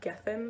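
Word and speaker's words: Gethen: the planet winter or i think it could also be pronounced gethin there's kind of two names for it i'm gonna call it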